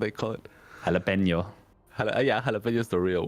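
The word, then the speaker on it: jalapeño: Jalapeno.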